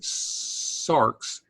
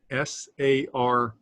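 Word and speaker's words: σάρξ: Here's a word that has an X at the end of it, sarx, S-A-R-X, sarx.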